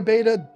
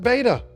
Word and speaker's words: betta: we did that one look we pronounce it beta I'm sorry I've pronounced it beta for 30 years and there's no changing it now if you can't tolerate hearing it pronounced beta I get get it